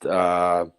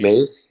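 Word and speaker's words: Mize: He actually has a great record against Mizzy, or Mays. How do you say his name? Casey Maze. Mays.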